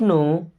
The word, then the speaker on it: know: लॉट मीस मैंने बहुत संघर्ष किया I don't नो why they do that I मीस मैं डोंट मीस नहीं यहां पर के साइलेंट ना आई डोंट नो मीस मैं नहीं